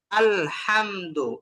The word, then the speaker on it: الحمد: الحمد الحمد الحمد الحمد الحمد আলহামদু, এই শব্দের মধ্যে আলের الحمد পরে যে হাটা আসছে, এই হাটা কোন জায়গা থেকে বলতে হবে বলেন দেখি?